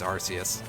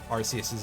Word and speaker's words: Arceus: actually play Pokemon Legends Arceus. Or Arceus, as it is apparently pronounced in English.